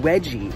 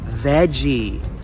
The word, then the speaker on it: veggie: first two minds is Veggie and please if you can save fast and you can save visa then you can also say veggie veggie and if you can't